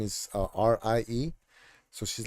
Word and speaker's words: Rie: And they say Rai, R-I-E. They say Rai, even though in Japanese it's Rie and in Spanish it's Rie.